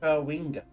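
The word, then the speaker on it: Chwinga: By the way, it's pronounced Chawinga.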